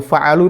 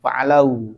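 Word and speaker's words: فَعَلُوا: Karena nggak mungkin kalau tanda fathah nanti lucu bacanya fa'alau. Mereka nggak ada kata fa'alau. Ini jadinya fa'alu.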